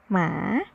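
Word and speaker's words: หมา: puppy dog Which is in Thai we say Ma It's like which is right in Thai with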